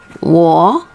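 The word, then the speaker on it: 我: i love you because war i need or is that you can remember like wall okay like you have a wall w-a-l-l wall except you don't sound the l okay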